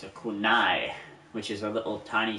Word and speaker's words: kunai: It's a kunai, which is a little tiny samurai sword.